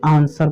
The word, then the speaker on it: answer: अगर किसी शब्द में एस के बाद डब्लू हो तो डब्लू साइलेंट रहता है।